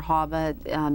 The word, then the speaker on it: HAVA: And so that meant in 2002, the Help America Vote Act was passed, HAVA or HAVA, depending on how you want to pronounce it.